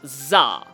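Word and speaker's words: 座: So that kanji right there that sent me down a rabbit hole of research because that is pronounced Zah.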